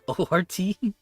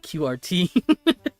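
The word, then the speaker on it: ORT: O RT. I could have sworn people were pronouncing it QRT.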